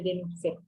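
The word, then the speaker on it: Denucé: el ligamento cuadrado de Denusé. Denusé va con una C de casa y acento en la última.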